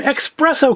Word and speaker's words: expresso: Generally, people regard that as a mispronunciation, but through some very, very minimal research, apparently it is an acceptable spelling and pronunciation. It just depends on whether or not you are starting from the Latin root for to express or the Italian root for to express.